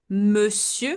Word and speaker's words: monsieur: Bonjour, bonjour, bonsoir, bonsoir, salut, salut, coucou, coucou, monsieur. So here, as I said, the ON is E. It's an exception. And the R also, it's not pronounced exception.